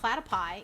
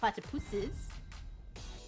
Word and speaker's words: platypuses: i had to put the correct floral pronunciation is not platypi even though i like saying platypi it's platypuses who says yeah that's a